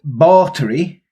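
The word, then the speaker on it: Báthory: So, Elizabeth Bathory, that's how you say her name in Hungarian, but I'll just call her Elizabeth, because...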